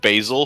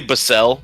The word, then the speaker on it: Basel: And he did go to the University of Basil. So like what does he really know? The University of Basil. He really Well, it's probably it's it's probably Basel, but it you know it looks like Basil.